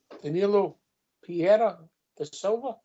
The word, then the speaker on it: Danilo Pereira da Silva: How are you pronouncing it, Jaffa? What are you giving us? Danilo Pereira da Silva.